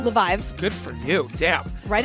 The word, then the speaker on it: Leviev: Leviev. Good for you. Damn. Write it out phonetically.